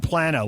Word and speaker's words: Plano: Hey, we got Texans pronouncing it Plano and Plano. Which is it? It's Plano. It's Plano.